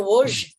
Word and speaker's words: Łódź: And I said, yeah, I'm going to Łódź, in a few weeks. And she goes, oh, you know how to pronounce it.